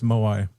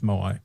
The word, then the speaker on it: Moai: I think it's Moai.